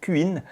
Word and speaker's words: cuin: un gonflant de 700 cuin. Je le prononce comme ça car c’est l’abréviation de cubic inch, c’est à dire pouce cube (dans le système métrique